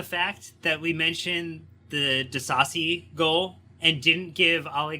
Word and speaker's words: Disasi: Goals, 18th minute from Luis Diaz, Mohamed Salah with the assist, 37th minute, Axel Disasi, which we learned is the pronunciation.